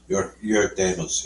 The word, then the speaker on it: Jörg Demus: Jörg Demus.